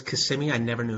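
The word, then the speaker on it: Kissimmee: CMI Florida they love their rodeo Oh it's CMI I never knew how to pronounce that yeah my cousin was on the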